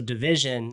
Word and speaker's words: DVSN: I'm a huge Drake fan, but so Division, another artist, I was excited to see if KD had discovered yet.